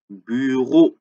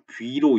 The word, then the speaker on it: Büro: 자, 베에다가 우 옴라우트인데 우 옴라우트 어떻게 발음하죠? 우한 상태에서 입모양을 우하고 있는 상태에서 좌우로 벌리면 안 돼요. 그리고서 이를 소리 내는 느낌으로 그래서 뷰로 이제 뷰 한 다음에 그러니까 뷰로 이렇게 됩니다. 뷰로 발음이 좀 까다롭죠. 뷰로 이게 우리말로 귀로 이렇게 얘기하거든요. 귀로 이거건 달라요. 귀라고 하는 순간 이잖아요. 이가 되면 안 된다고 입 모양이. 그러니까 뷰, 뷰로, 뷰로 요렇게 im Büro 참고로 das Büro입니다.